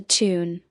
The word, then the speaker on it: TOON: I enjoyed the moment when Doug said it is a tune. The second O is silent.